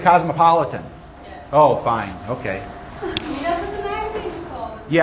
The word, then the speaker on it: Cosmopolitan: Cosmopoliteness magazine. Right? You've heard of it? Newsstand? Cosmopoliteness. It's also a drink, I think. Yeah? You pronounce it cosmopolitan.